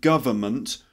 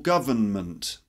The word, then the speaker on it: government: government government or government three syllables not four so don't say government